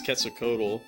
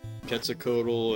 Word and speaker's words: Quetzalcoatl: So he boots it up, he summons Quetzalcoatl, which of course when we were kids we would call it Quetzalcoatl, but I'm pretty sure it's pronounced Quetzalcoatl.